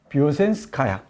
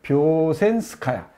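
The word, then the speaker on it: Вёшенская: 뷰센스카야. 한번 따라해 보세요. 뷰센스카야. 예, 여기 뷰젠스카야라고 했는데 이 발음이 좀 어렵습니다.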